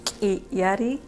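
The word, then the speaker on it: K'illari: And I go by Kiari, which in Quechua is pronounced Kiyari, and in my indigenous language, in my native language, we use our throat to talk, to make words.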